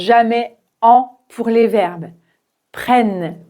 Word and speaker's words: prennent: Il n'y a pas d'accent mais le double N va faire que le e se prononce comme un e ouvert prenne prenne.